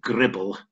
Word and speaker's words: gribble: um jetty piles and that's called the gribble which rhymes with nibble which is what they